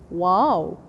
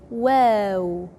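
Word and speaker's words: و: pronounce h h wow people usually read it read it wow this wow is in English but the Arabic W is soft so we say wow be careful don't say wow don't say w but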